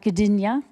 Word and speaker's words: Gdynia: So Ula Pontikos, BSc, is actually from Poland, originally from the seaside town of Gdynia. Well done. Did I pronounce it correctly?